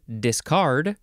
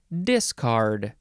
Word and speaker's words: discard: an i next is discard or discard emphasis on either syllable is quite all right with me this is the first